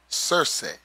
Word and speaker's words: Circe: So goddess, churche, sometimes pronounced churche, properly pronounced in traditional ancient Greek as Circe.